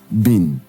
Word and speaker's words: been: Being is pronounced being, while been is pronounced been.